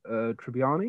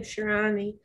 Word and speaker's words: Tibshirani: And I was thinking, well, ours finishes in 5 weeks, but Trevor Hasty and Rob Tribbiani, is that right? Tibshirani. How do you pronounce that? Tibshirani, who both are absolute legends.